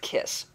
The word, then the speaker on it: CISS: a book in Canada it's called the cisss the Canadian ISBN service system and it's pronounced kiss if your author is